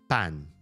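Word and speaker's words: パン: Or if you talk about um bread, bread is a lone word from Portugal and that word is pan. Pan. So anything that ends in n can end by itself without adding another vowel.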